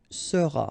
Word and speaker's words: seras: All right, then tu seras, final S not pronounced, tu seras.